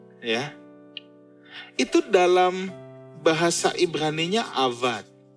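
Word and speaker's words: עבד: Nah, kata mengusahakan yang kemudian jadi to work, ya, itu dalam bahasa Ibraninya avad. Tulisannya abad tapi dibacanya avad.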